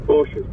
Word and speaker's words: Porsche: call them Porsches, but. Yeah. It is pronounced Porsche.